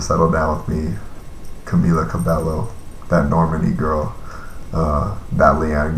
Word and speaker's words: Cabello: I know it's pronounced Cabello. I just fuck it up all the time. There's 2 L's.